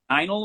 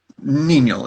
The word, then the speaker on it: Ninel: Okay, and that was Einel was the protagonist? Ninel is how it's pronounced. Because it's a Russian name.